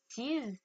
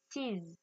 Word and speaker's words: sees: Le S n'est pas une lettre muette en anglais. Donc, vous entendez bien la différence entre see, sees.